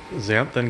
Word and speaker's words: xanthan: How do you pronounce that? Xanthan gum.